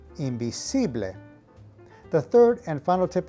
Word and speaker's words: invisible: e sound now interestingly the word for invisible is spelled exactly the same in spanish however the pronunciation is imbible the third and final